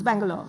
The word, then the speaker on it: Bangalore: So Bengaluru has 4 syllables, whereas Bangalore can be said actually in 2 syllables, Bangalore, like that.